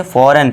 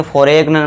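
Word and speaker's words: foreign: यदि जी के बाद एन हो तो जी साइलेंट होता है। बहुत ही इंपॉर्टेंट रूल है। जी के बाद एन है तो यहां पे देखिए क्या हो जाएगा हमारा? जी साइलेंट। तो इसे क्या पढ़ेंगे? फॉरेन। इसे फॉर एग्न मत पढ़ना।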